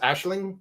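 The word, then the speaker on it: Aisling: So yeah, the cards all of the card because again the characters names like Ashling for example, our main hero, it's it's spelled as Elyn. but it's pronounced Ashling and it means like vision or dream.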